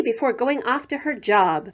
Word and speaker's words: Job: Ruth shouts 1, 2, whee before going off to her job, which in the Bible is pronounced Job.